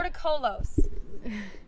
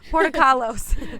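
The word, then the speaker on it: Portokalos: How do you say it? Portocolos. I'm not Grecian or Greek. I mean, we're sisters. I'm not Greek either. Portocalos. Portocalos. She's just better at pronouncing things.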